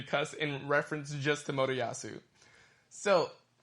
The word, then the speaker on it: Motoyasu: I would like to say that you still have not pronounced his name correctly. Motoyashi? Nope. What the fuck? Motoyasu.